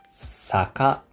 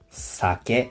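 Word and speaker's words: 酒: « saké » On peut prononcer « saka », « saké » ou « shu ».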